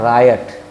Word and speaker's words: riot: एक और शब्द है RIOT, इसका लेकिन उच्चारण होता है रायट। राइट का मतलब होता है दंगा, लेकिन गांव जवार में आप सुनते होंगे राइट हो गया, हिंदू मुस्लिम राइट हो गया। ये राइट नहीं, रायट होता है।